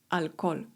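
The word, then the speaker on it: alcohol: Litera H w języku hiszpańskim jest nie ma, nie wymawiamy jej. Alkol.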